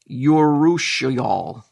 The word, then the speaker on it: urushiol: Mangoes contain an oil in their skin known as urushiol. I don't know if I'm pronouncing that correct.